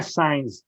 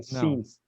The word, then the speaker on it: since: Não é signs, é since. Yeah.